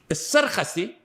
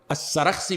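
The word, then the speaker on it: السرخسي: As-Sarkhasi, and it's also mentioned, pronounced As-Sarakhsi. Both are proper. As-Sarakhsi may be more proper in pronunciation.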